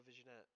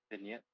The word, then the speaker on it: vignette: Oh, I know a visionette. Is that how you say it? Vignette. Vignette. Yeah, that's Wow.